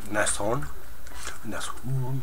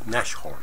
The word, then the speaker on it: Nashorn: They're all wrong anyway because, unless you're German of course, then you've got the proper pronunciation. Basically means nose horn, or rhino. Nushorn.